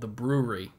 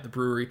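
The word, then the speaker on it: The Bruery: There's a microbrew, 10, 15 minutes away from me, called The Brewery over in Placentia, California. Not spelled like B-R-E-W. It's B-R-U-E-R-Y, The Brewery.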